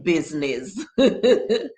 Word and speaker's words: business: all right it says i doesn't do a blessed thing in business business yes um inga